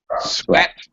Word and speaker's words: sweat: sweat a lot okay Sweat by the way pronunciation sweat all right same sound in Pleasant sweat Pleasant okay uh okay one very